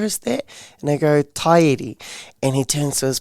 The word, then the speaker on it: Te Ariki: Yes, it is called Te Ariki, not Te Ariki.